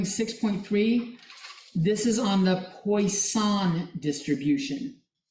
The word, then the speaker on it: Poisson: This is on the Poisson distribution. Like toy, son is how it's pronounced. Like toy, but poi.